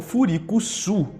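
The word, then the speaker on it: Freecss: Já em japonês, freak de esquisito é traduzido como Furikuzu, e o sobrenome do Gon é pronunciado como Furikusu.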